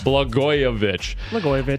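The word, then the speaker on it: Blagojevich: Blgoyovich.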